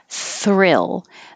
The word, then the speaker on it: thrill: This one can be difficult if you usually let your tongue touch the top for a R kind of R, but don't let it touch. Pull it back in from the TH and pull it down and back so that it has room to curl back for the R.